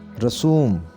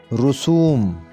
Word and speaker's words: رسوم: چوتھا لفظ ہمارا ہے رسوم، یہ غلط تلفظ ہے، اس کو صحیح کر کے پڑھیں گے رسوم، رے کے اوپر پیش آئے گی اور پڑھا جائے گا رسوم۔ ہمارے یہاں رسوم ایسی